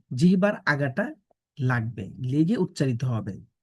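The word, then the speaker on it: ح: এখানে বাংলায় লেখা আছে হা আসলে হা বললে হবে না এটির সঠিক উচ্চারণ হচ্ছে হা আমাদের গলার মাঝখান থেকে উচ্চারণ করতে হবে এটিকে বাংলায় বলে কন্ঠনালী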